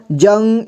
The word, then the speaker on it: जंग: इसके बाद डा ठंडा यहां पर ज में अं की मात्रा जंग इसके बाद ग जंग यहां आ यहां आ